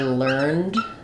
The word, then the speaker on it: learned: um for for example I learned about it no dound just learned but the Learned Professor is learned so that's the adjective